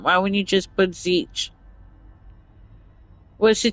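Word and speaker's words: Tzeentch: Why would you just put Zech? What's the T? to make him look fancy. Well, there's other alphabets that have I know, but it's Zech, but the T is silent like Okay.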